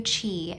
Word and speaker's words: qi: so first of all chi is spelled q i and it's basically fundamental